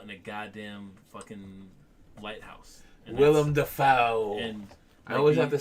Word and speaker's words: Willem Dafoe: seems creepy as fuck because it's him and William Dafoe. Oh my god! Wigging out in a goddamn fucking lighthouse. Willem Dafoe.